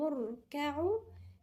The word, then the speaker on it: اركعوا: لهم اركعوا، لا لهم الألف في النص دي ألف ساقطة، لما بتيجي في نص كلمة تبقى ساقطة، لما بتبتدئ في الابتداء هننطقها، لكن في نص الكلمة لا تنطق. لهم اركعوا لا يركعون.